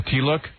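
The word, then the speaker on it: tilak: how you say it it's the t-look a tea look yeah no not a t-list But That's all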